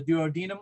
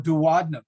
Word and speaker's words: duodenum: The first part of the small intestine is called the duodenum or duodenum. Those are both correct pronunciations.